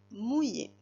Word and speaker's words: mouiller: Allez, le premier mot, mouiller. Mouiller. Mouiller. 2 syllabes. J'entends mou, M-O-U, mou, et j'entends yé, I-2-L, E accent aigu.